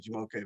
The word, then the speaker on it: Jamoke: Yeah, so and yes, you Bianca, you said my name correctly, Jamoke.